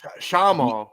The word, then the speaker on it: Dzhamal: Dzhamal. Dzhamal, is that how you say his name? Shamal, right? Shamal. That will make much more sense. DZ or Z for you Americans.